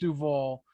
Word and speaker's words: Duval: It's spelled it's pronounced Duval.